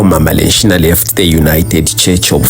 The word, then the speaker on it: Lenshina: Due to my Bemba heritage, people back then couldn't pronounce Regina, hence they said Lenshina, which means queen.